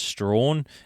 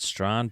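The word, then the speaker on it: Strahan: over in the East I think it's Strawn is how you pronounce it I always used to pronounce at St but I think it's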